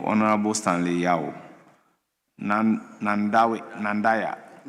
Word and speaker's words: Nandanda: Stanley Yao nand nandawi nandanda nandaya member of parliament for Uh thank you Mr. Speaker. Uh the right pronunciation is Nandanda.